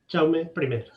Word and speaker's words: Jaume I: Juan, you will please help me how to pronounce the name of your university, Universidad? Jaume I.